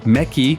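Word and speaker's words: Méqui: restaurant affectionately known as mechi 1000 the term mechi reflects the Brazilian pronunciation of Mech this establishment offers a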